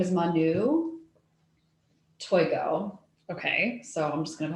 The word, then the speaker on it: Manu Toigo: do um so uh my her name is manu toygo okay so i'm just gonna call her very